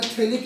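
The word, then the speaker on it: phthalic: तो benzene aromatic compound में जब दोनों कार्बोक्सिलिक ग्रुप पास पास प्रेजेंट हो तो ये फॉर्मूला होता है थैलिक एसिड का। P यहाँ पर साइलेंट है।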